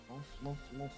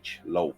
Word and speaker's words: Lolth: I keep hearing it as love, and I'm just like, Evelyn has never heard of Yeah. love. This is so sad. It's probably my pronunciation of it. It's a bit weird. Lolth. Lolth. I don't think it's your pronunciation. I think that's just how it is pronounced, and it's just a weird word.